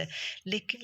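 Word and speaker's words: whole: ओ एल ई होल हम इसको व होल नहीं पढ़ेंगे वो होल पढ़ेंगे इसी तरह से इसकी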